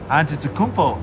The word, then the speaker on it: Antetokounmpo: We're the only ones that can pronounce our last name. Antetokounmpo.